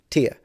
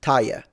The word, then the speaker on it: tier: I said, "Yeah, that's that's a different tier tier." And he said, "No, it's pronounced tire." I'm like, "No, tire is for your wheel, but tier is like another way to say like a level."